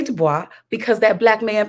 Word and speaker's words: Du Bois: rose to the top booker t washington w.e.b du bois yes it looks french it looks like dubois we don't say dubois because that black man pronounced his name is